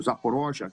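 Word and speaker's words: Запорожье: Dombis, Lanssk, Donetsk, eh Zaporija, agora se for russo, Zaporoja, que é assim que é pronúncia, eu creio.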